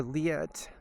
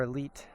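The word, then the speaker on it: Leatt: a lot I order a leet or Elite depending on who's pronouncing it um l e a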